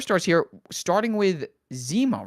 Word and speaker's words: Zima: We're moving on to the 4 stars here, starting with Zima, right? It's pronounced Zima? Yes.